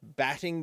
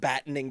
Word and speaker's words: battening: be home this week, batting down the hatches." And I wanted to hit the pause button. I said, Whoa, wait, whoa, batting down the Batting. hatches?" And that was You're missing a syllable.